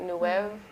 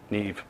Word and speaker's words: Neve: He said he got the, what is it, New Wave microphones? Neve.